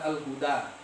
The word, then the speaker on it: Al-Huda: Itu bacanya adalah Al-Huda.